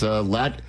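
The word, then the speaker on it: Ladd: So the name is Lad, which is spelled L A D.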